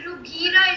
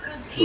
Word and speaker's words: रुधिर: Ma'am, he told Rughira instead of Rudhira. No, he said that correct one. Bhunjiya, bhu should be stressful.